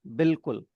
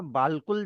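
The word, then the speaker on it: بالکل: होता है हम और लिखा बालकुल जाएगा पढ़ा बिल्कुल जाएगा अलिफ साइलेंट और कुल भी कैसे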